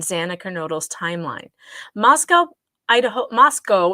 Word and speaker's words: Moscow: kernodles timeline Moscow Idaho Moscow it's not Moscow I keep saying that but it's Moscow that's how they say it there Moscow Idaho police are